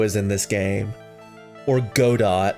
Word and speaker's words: Godot: I don't actually know if Godot is in this game. Or Godot. I'm not pronouncing it Godot. I'm pronouncing it Godot like you're supposed to.